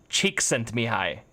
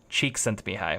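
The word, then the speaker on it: Csikszentmihalyi: the zone so and this name is pronounced cheek sent me hi I found that out yesterday cheek sent to me hi wouldn't you like that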